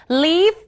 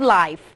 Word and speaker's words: live: กัน ด้วย นะ คะ ก็ คือ คำ ว่า leave นะ คะ กับ Life คำ นี้ ก่อน คำ นี้ เนี่ย นะ คะ